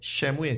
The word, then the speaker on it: 사무엘: 주셨다는 의미가이 사무엘이라는 이름입니다 정확하게 좀 비슷하게 발음을 하면요 샤무엘 있니다 샤무엘네 히브리 여러분이 여호와께서